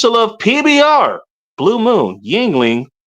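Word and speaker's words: Yuengling: I used to love PBR Blue Moon Yingling. That is how you pronounce that by the way.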